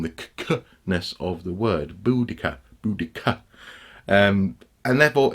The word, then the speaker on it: Boudica: he's almost emphasizing the conus of the word boodikka boodikka and therefore it's it's it's highly likely